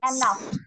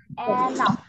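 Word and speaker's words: enough: on Easter Eric can নট গেট ইগজ এগ এনাফ এনাফ এনাউস এনাফ উচ্চারণ হবে ফা হবে এনাউ এনাফ দুটো আগে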